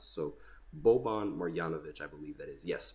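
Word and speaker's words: Marjanović: I didn't these yanovich are so difficult to pronounce so boban marianovich I believe that is yes marianovich that's who it is I said it right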